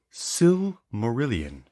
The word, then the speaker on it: Silmarillion: help you with that yes please it is pronounced Sue Marillion can you use it in a set no I'm just kidding okay so Adam cannot pronounce the word silmarillion sometimes when I read these books I take